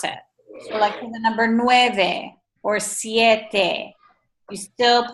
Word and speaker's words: siete: there's nothing like us there's no such thing as a silent e in Spanish so like for us